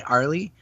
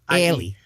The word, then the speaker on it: Airlie: And it's so hard for Americans to say, not say Arlie, but it's spelled A-I-R. Yeah. So it's A-I-R-I-L. Airlie.